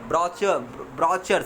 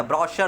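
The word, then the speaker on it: brochure: Browser, ब्राउचर, CH चौ नहीं होता, ब्राउशर होता है, SH का उच्चारण देता है।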